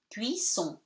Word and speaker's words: cuisson: E is not pronounced, C before the U gives you K, so cuit, double S gives you S, cuit, son, O-N at the end gives you nasal one. Cuisson.